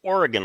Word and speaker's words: Oregon: And that's pronounced Oregon like a pistol.